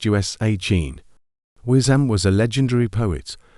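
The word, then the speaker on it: Oisín: This one is pronounced Usain.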